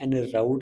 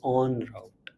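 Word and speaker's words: en route: तो ये जैसे पढ़ने में एन राउट लग रहा है बट इट्स ऑन राउट।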